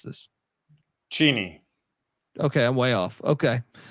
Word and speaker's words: Cheney: How do I pronounce this? Cheney.